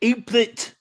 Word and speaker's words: Apert: I know that you have, I guess, the right pronunciation is Apert syndrome. Am I pronouncing that correct? APERT? I pronounce it aplet syndrome.